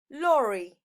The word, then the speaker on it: lorry: We've got train, train, car, car, motorbike, motorbike, lorry, lorry. La R, las dos R no se pronuncian R, se pronuncia R, suavecito, como arrastrando.